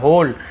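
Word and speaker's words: whole: the king was told about the होल incident, राजा ने बताया, about यानी के बारे में, द होल डब्ल्यू साइलेंट होता है, होल यानी पूरा, इंसिडेंट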